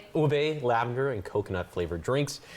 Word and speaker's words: ube: How do you pronounce this? ube ube lavender and coconut flavored drinks.